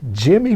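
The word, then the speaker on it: Jymie: dad by the way was jazz bass legend jimmy merritt and that's spelled j-y-m-i-e jimmy merritt who played with art blakey and the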